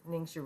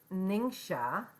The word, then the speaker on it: Ningxia: First, each day, right off, start out with 2 to 4 ounces of Ningxia Red. It's pronounced Ningxia, Ninsha, Ningxia, and it's found, there's a 2-ounce sample in the Premium Starter Bundle.